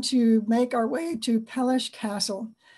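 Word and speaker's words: Peleș: make our way to pelish castle the little s under the s is pronounced as sh so it'd be pelish castle and this was built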